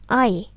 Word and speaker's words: eye: dalam bahasa Inggris adalah I walk pun tulisannya eye iwi1 bacanya i ati2 ikuti misi tak